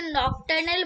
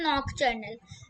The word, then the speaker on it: nocturnal: ठीक है, और नॉकटर्नल आईसाइट, बहुत लोग इसे नॉकटर्नल बोलते हैं, लेकिन इसकी प्रोनाउंसिएशन होती है नॉकटर्नल।